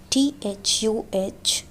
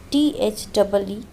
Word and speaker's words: the: Pronounce it as the, THUH, before all consonants sounds.